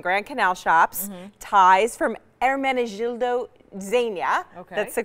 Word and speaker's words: Ermenegildo Zegna: Fashion Show and Grand Canal Shoppes ties from Ermenegildo Zegna that's the correct way to pronounce that Art of Shaving and then a